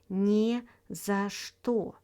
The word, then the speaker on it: не за что: Next, we have «не за что», pronounced «не за что», with the stress on «не», which means my pleasure, don't mention it.